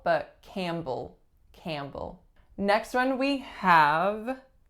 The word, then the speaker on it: Campbell: this case it's reducing to schwa so not Campbell but Campbell Campbell next one we have Evan's Evan's only two syllables the winners on the first and it